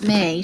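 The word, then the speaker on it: Mai: I always want to say my for some reason, and I know that's not right. It's May. She pronounces it May.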